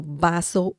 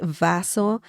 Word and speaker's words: vaso: Bas remember the V sound in Spanish is similar to the English sound b as in b so baso baso if you say Vaso I mean they they